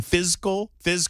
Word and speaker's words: fiscal: will be focused on fiscal, that's fiscal, there's no three syllables, fiscal responsibility.